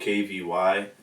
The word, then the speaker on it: Kvy: just change mine to Kvy? Alright. So you understand the V is just silent. It's just not even there. Alright, you feel me? Just pronounce the name without actually pronouncing the V.